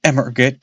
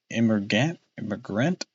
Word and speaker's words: emigrant: the forecastles of an emigrant ship. That is a tough word to say. Emigrant. Immigrant? It's not immigrant because it doesn't start with an I.